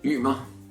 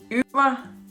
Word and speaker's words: Ymer: Det er Ymer. Ymer. Ymer. Ymer.